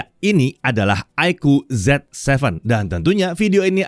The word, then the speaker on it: iQOO: kita lihat Oke iku ya bacanya aiku bukan IQ ya Aiko ini memang